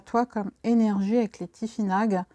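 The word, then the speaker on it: Tifinagh: Je voulais savoir, moi, qu'est-ce qui arrive à toi comme énergie avec les Tifinag, qu'on prononce les Tifinars, GH se prononce R, et savoir en fait, ben voilà, qu'est-ce qui arrive à toi.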